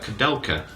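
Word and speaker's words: Koudelka: Kadelka. That's how you pronounce it.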